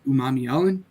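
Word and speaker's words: Umanmielen: Uh, people struggle to pronounce that last name. Uh, again, it's Umami Ellen for those who struggle.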